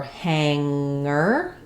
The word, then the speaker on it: hanger: and a g, or hanger. So sometimes ng in the middle is just ng with no g. Hanger. Hanger, not hanger.